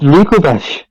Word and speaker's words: Dracovish: It's from the fossilized drake, not the fossilized dragon. Like, it's Dracovish.